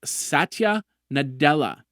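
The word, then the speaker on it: Satya Nadella: he's going to do first introductions his name's SAA nadela I hope hopefully I'm pronouncing it right s a t y a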